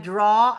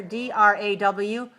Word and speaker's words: draw: in English spelling when we spell aw we say all we don't say ow we say all right so for example when we say take your colored pencil and draw a picture d-r-a-w it's pronounced like this watch this shape oh look in your mirror say all all draw draw okay so at l-a-w how